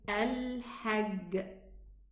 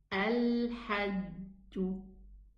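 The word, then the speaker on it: الحج: For example, the Egyptian would say al-hajj, very common, very normal. It should be pronounced al-hajju, al-hajju, okay, or al-hajj, because it has qalqala.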